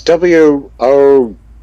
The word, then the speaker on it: Woge: But No, it's WOGE. I yeah, think. WOGE, but it's Not pronounced yeah, Voga. not Voga. VOGUE.